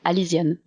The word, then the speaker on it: Alyzian: would be alian but in French it just pronounced alian oh okay it's it's pretty close really so